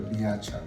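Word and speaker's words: Bijača: अब वो बियाचा है ना, तो ऐसे लगता है BIACHA होगा, लेकिन वो BIJ, क्योंकि जे को ये प्रोनाउंस करते हैं ये की तरह, जैसे सरायेवो, लुबियाना, तो BIJ, और सी के नीचे वो एक कॉमा सा लगा देते हैं तो वो चे बन जाता है, तो बियाचा।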